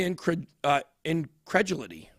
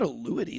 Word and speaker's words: incredulity: The main reaction appeared to be incredulity. Incredulity? How do I pronounce that word? Where is it? Incredulity? Incredulity, I guess. No, it's not a luity. There's no U.